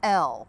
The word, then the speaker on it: ell: It's L, it's spelled E-L-L.